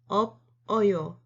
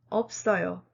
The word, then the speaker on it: 없어요: When two consonants in the final position meet a vowel, the first consonant remains and the second consonant moves to the next syllable.